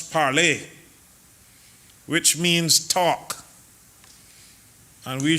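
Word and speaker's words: parler: Speaker the word Parliament comes from a French word parlay pronounce parlay which means talk and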